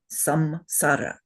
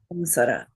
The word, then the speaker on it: samsara: We should not be saying samsara. We should be saying what? Sanssara. Al short vowels.